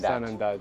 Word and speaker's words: Sanandaj: Sene, you remember, is the way that the Kurdish pronounce Sanandaj. Sanandaj.